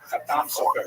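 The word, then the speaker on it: Chatam Sofer: Khatam Sofer, Sephardi pronunciation. Obviously, some of the consonants are slightly different, and the emphasis tends to be on the last syllable.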